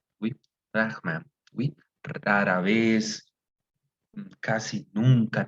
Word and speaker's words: rarement: ¿Cómo es la pronunciación acá? ¿Cómo creen que es? Rarement. Rahman, oui, Rahman, oui.